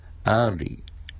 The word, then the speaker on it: early: 俺の授業に遅れるな。early 反対 late, early 反対 late, ear, ear ですけど、ear, er, early.スペリングで言うと earth E-A-R-L-Y early earth learn hear hard hard er 日本語のあいうええと言いながら、日本語のえの発音でえという、まあ、こういう説明ですが early earth learn L を取ると earn 稼ぐ